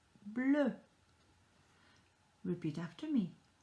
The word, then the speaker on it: bleu: So E and a U together makes a sound. A sound. Just imagine that you are sticking out your tongue and then saying that you don't like something.